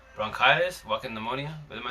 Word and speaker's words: bronchitis: No, it's bronchitis.